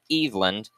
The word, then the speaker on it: Eveland: I guess they pronounced it Eveland on the PA.